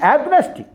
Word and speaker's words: agnostic: That means agnostic. Agnostic. The pronunciation is agnostic. Agnostic. STIC. Stick.